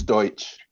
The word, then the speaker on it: Deutsch: uh Joshua Justin and you know how to pronounce this um probably Deutch it's it's Deutsch okay thank you okay all